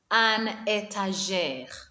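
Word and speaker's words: une étagère: bus yoon table bus a shelf is called an etager and if there are many shelves they will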